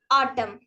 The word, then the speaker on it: autumn: dumb next example is letter N in Autumn is not at all pronounced see we call this as Autumn we don't pronounce it